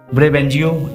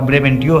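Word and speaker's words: Brabantio: लेकिन समस्या ये थी, डेस्डेमोना का पिता जो जिसका नाम ब्रेवेंजियो या ब्रेवेंटियो है, इसको दोनों से उच्चारण किया जाता है, चाहे ब्रेवेंजियो या ब्रेवेंटियो।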